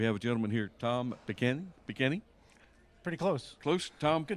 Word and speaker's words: Peghiny: It should be Peghiny with an I. Peghiny. I believe it was changed at Ellis Island. But there's a little bit of inflection on the second syllable, isn't there?